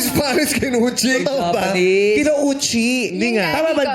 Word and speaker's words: Kinouchi: Bakit Kinuchi yung apelido mo? Kasi Spanish sila. Anong Spanish Kinuchi? Totoo ba? Japanese. Kinouchi. Hindi nga. Tama ba ang bigkas namin?